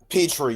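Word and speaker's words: Pitre: Texans or hold on I want to make sure I pronounce this the right way I believe uh Petri yes jayen Petri uh of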